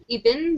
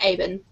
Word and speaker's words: Ibn: Nicole just said in the comment section that Ibn, you know, that thing in the middle of their names, is pronounced Aben. Aben. Oh, right. Aben. That sounds a lot better than Ibn.